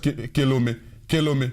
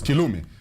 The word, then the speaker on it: Kilumi: I know they will pronounce that Kelome, but it's Kilumi.